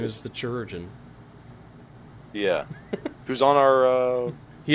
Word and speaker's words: chirurgeon: The chirurgeon? The chirurgeon. However you pronounce that. It's like surgeon, but it's a chirurgeon.